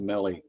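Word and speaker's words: Melle: uh uh melly m-e-l-l-e it's pronounced melee good yeah yeah i swear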